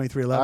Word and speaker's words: 23XI: It's I 2311.